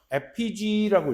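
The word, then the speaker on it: effigy: 그 사람의 닮은 인형 FPG라고 읽거든.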